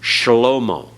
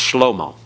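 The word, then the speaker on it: שלמה: the name Solomon, uh, it's supposed to be vocalized in biblical Hebrew, shalomo. Shalomo. But in modern Hebrew, it's just schlommo. They don't give that vocal sound at all.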